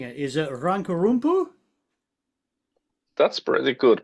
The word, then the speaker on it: Rankarumpu: Is it Rankarumpu? That's pretty good pronunciation. It's Rankarumpu.